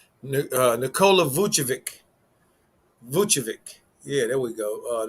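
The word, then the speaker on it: Vučević: they shouldn't have much problems with this team vuchevik yeah that's how you say his name uh nicola vuchovic yeah there we go uh to do for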